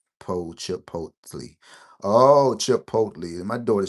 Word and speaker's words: Chipotle: All right, say chip, this is silent. Chipotle.